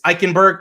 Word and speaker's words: Eichenberg: And then obviously your boy, I don't know how to pronounce his last name, but out of Notre Dame, it's Eichenberg. Okay, there you go. Liam Eichenberg, freaking offensive tackle out of Notre Dame.